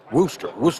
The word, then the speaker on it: Worcester: For those who may not be familiar with Wreaths Across America, it's an organization that, is it Merrill Wooster or? Worcester.